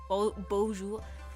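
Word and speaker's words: bonjour: But yeah, the best I can pronounce across is Bojer Bojour. Well, I think the J in French is softer, right? It's like bon like instead of like bonj, it's like I I can only describe it as softer, right?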